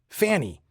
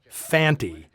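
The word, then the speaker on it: Fante: I'd assumed Lee Van Cleef's character was named Fanny, since that's how both Earl Holliman and Brian Donlevy always pronounce it. It's only when Conte speaks the guy's name does he clearly say Fanty.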